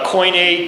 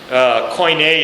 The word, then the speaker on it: Koine: Now, the communication, what made the communication possible was what you want to call Koine Greek. Koine is spelled K-O-I-N-E.